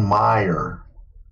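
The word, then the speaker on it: Meijer: the name of the supermarket chain it's called meyer how do you m i j e r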